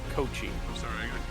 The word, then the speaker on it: Koci: I thought it was Kosi too. Kosai? KOCI, I believe. Cocky? I believe it's pronounced Kochi. Kochi.